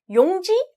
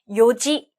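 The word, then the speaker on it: 四時: 같아요 자네 씨의 경우에는요 용지 안돼요 시시도 안돼요 요지 요지 라고 특이하게 발음합니다 그러면요 지대 했으면 뜻이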